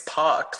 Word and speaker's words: Puck: Well, his name is Puck, like rhymes with fuck.